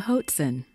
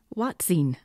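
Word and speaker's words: hoatzin: Crest from South America known as the Hoten or watsen as I've also heard it pronounced their diet is quite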